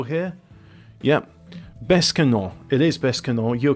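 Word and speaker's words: Besançon: It is Bescanon.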